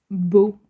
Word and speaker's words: Beaux: Je pense pas mais ma deè c'est beau qui s'appelle enfin ça s'écrit B E A U X comme beau mais au pluriel.